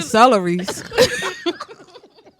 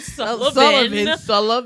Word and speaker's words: Sullivan: Jasmine Celeries. It's too late. Shout out to Jasmine Sullivan. Sullivan. I had to pronounce it and enunciate since she called her celery.